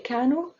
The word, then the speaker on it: كانوا: Do not pronounce alif here. You say كانوا, write alif, but don't pronounce it.